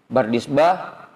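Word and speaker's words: بردزبه: Bardizbah baknya difathahkan, roknya sukun, dalnya tanpa titik dibaca kasroh, zainya sukun, baknya fathah, dibacanya Bardizbah.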